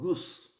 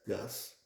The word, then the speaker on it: Gus: is what is called Goose g s well if you are English speaker you will pronounce it as Gus is not Gus it's Goose let's say if the